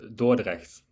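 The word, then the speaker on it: Dordrecht: I don't know how how should it be pronounced. Uh Dorrect.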